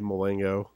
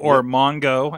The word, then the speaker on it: Mulango: Mulango. That's you. Mongo, as I heard today.